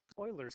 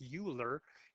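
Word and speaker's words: Euler: constant which is called Oilers constant now it looks like it's pronounced uler given the words up here but actually the way this is pronounced is Oiler kind of like Edmonton Oilers okay so Oilers constant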